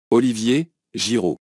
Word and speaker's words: Olivier Giroud: goal scorer so how do you go about pronouncing it Olivier Olivier jirou we are looking at how to pronounce the